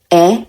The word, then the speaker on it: へ: The hiragana he is pronounced as e if it is used as a particle.